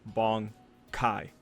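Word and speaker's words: 卍解: the anime there is a very specific way of pronouncing Bankai it usually goes bong Kai right you have that little bit of an enunciation there um the characters are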